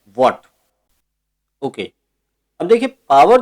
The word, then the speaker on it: Watt: की याद में इसे वॉट कहा जाता है। याद रहे इसका प्रोनाउंसिएशन जो है WATT है, राइट। एक दूसरा है वोल्ट, ये वोल्ट नहीं है, ये है वॉट, ओके।